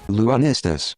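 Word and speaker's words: Lunistice: I hope I'm pronouncing this right, I'm just going to assume it's like Solstice. YouTube pronunciation tutorials, help me out. Lunistus.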